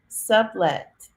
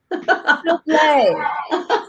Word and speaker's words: Soublet: Author's Lounge Miss Beatrice Sublet. Hi, Beatrice. How are you? I am well, I am well. And it rhymes with toupee, souble. Soublet.